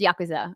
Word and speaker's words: yakuza: in the chat saying i'm saying yakuza wrong listen i know it's yakuza okay i know how to